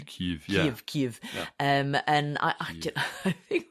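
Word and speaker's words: Kyiv: Ukraine's historic Capital City pronounced Kev in Russian but more like KV in um Ukrainian KV um and I I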